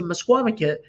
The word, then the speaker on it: Misquamicut: yeah, so we're so happy you're coming to Mesquamaket, just to maybe get that. So can you pronounce the name of our town?